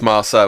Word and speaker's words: Marceau: For someone who speaks frog, please pronounce that properly. It's Marceau, isn't it?